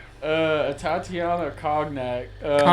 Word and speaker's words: cognac: Phonetically. There you go. This is my high school graduate right here. Conac. It's cognac.